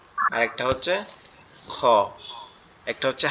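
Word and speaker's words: خ: এরপরে যেটা আছে কাচির মতো দেখতে, উপরে একটা নোক্তা, সেটা হচ্ছে খ। এটা আমাদের কোথা থেকে উচ্চারণ হবে?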